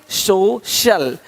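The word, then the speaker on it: social: सकता है अब देखो यदि सी के आगे आई ए हो तो सी का उच्चारण श होता है क्या होता है श होता है क्या लिखा हमने सोशल सोशल सोशल तो यहां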